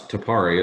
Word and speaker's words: TPRA: It's Tapari is how we pronounce it.